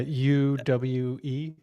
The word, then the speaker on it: Uwe: this director I think you pronounced his name UA ball people in the comments will probably know who he is yeah UWE right yep has has some of the probably